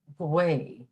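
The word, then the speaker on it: gaoth: The word for wind in Irish is gwaoth, G-A-O-T-H.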